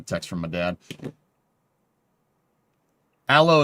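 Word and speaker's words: Aalo: Aloe is pronounced like the plant you use for burns.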